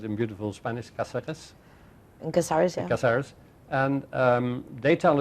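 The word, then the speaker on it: Cáceres: In Caceres, yeah.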